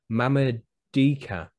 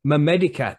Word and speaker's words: Mamedica: Mamadika. It's Mamedica.